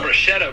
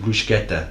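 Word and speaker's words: bruschetta: top of it yes that people here call Bretta bro people call it Bretta but actually in ital it's pronounced brushetta which is like actually crazy Matthew just raged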